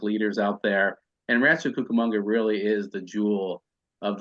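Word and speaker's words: Rancho Cucamonga: location of this project Rancho kakamanga did I get this righto kukamonga cucamongo okay and why did you guys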